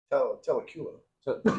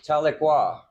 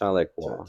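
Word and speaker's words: Tahlequah: In uh Telula, no, no, Talequa. Talqua. It's It's pronounced Talequa.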